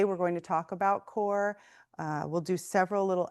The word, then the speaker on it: QoR: Um, Golden Artist Colors makes core watercolor. That's how you pronounce Qo R.